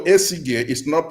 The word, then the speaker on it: Esige: Me myself, Odiakosa, for instance, my dad, although Esige is pronounced as if you are pronouncing G as J, but it's the same spelling, Esige.